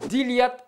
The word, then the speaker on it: dilhad: Le "lh" est mouillé, comme dans "dilhad" = vêtements, ou "drailhet" = haché.